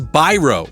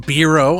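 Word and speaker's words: Biro: __ ] sorry dude uh Steven brro that's how you say it it's not bro I'm trying to get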